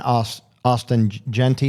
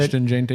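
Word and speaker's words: Ashton Jeanty: I mean, to me, my way of thinking is I'd rather have a Justin Jefferson and an Austin Genty. Is that how you pronounce it? Ashton Genty, yeah.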